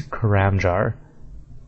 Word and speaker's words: Karamja: The word is, I always said Karamja. I think most people said that, or at least something close to that. But what they have it pronounced as is Karamjar. Karamjar. It doesn't sound as smooth, like it's harder to say.